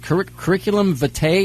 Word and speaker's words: curriculum vitae: i'm looking through your i guess it's called curriculum vitae is that how it's pronounced yeah some latin word bio i guess